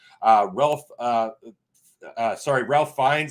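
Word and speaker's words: Ralph Fiennes: Ralph uh uh sorry Ralph finds I believe is the way it's pronounced again I'm probably terrible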